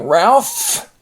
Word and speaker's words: Ralph: else then we have a name Ralph and this pH is pronounced as an F next is Telegraph Telegraph